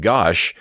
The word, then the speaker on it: Gashu: Number 1, my understanding is that Gashu is pronounced more like gosh and is an anagram for sugar, shuga, as Toriyama had done for Rakum, Kurimu, and others.